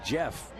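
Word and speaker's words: Jaff: interesting story regarding Decker whose first name is pronounced Jeff it's actually named after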